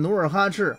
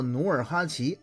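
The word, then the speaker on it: 努尔哈赤: 所以说无论是念努尔哈赤还是念作努尔哈齐都没错，别太较真。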